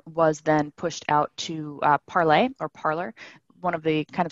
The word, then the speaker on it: Parler: So that was a big difference, is that you have the Gab, Vote, Parler, Parlay. We're still arguing over whether people on an alt-right site would use the French pronunciation.